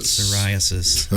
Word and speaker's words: psoriasis: Psoriasis.